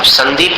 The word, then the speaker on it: संदीप: तो संदीप में अनुस्वार का उच्चारण कैसा है? न के समान है।